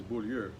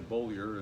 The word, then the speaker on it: Beaulieu: Well, in French Canadian, when I grew up, it was Beaulieu. Yeah. And then we anglicized it to Beaulieu, and along the way it became and then Beaulieu.